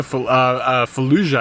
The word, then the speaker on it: Fallujah: we were listening to Fallujah I think is how you say the name of the band it's the same as the Iraqi city and it's like this